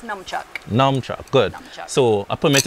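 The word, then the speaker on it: nunchaku: what we call the non-chaka or how is it pronounced it's numb chuck norm good so a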